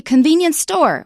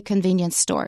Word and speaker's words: convenience store: So we don't say convenience store, we say convenience store. If you have a noun modifying another noun, don't stress the second noun that is modified.